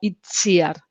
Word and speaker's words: Itziar: a ver en principio itziar es un nombre vasco de la región del norte de españa y la tc está en el la lengua vasca en euskera se pronuncia como una de ese entonces en principio el